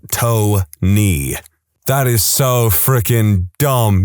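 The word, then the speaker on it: Toeknee: I know a guy whose name is Tony, but it is spelled Tony.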